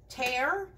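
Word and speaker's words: tare: You put your bowl on it and then you hit tear. It's spelled T-A-R-E.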